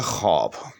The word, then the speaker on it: خواب: کہ درست نہیں ہے۔ درست لفظ جو ہے اس کا وہ ہے خواب، ٹھیک؟ یعنی درمیان میں یہ جو وہ لکھا ہوا ہے یہ لکھنے میں تو آئے گا، لیکن یہ تلفظ میں یا پڑھنے میں نہیں آئے گا۔ اسی طرح سے ایک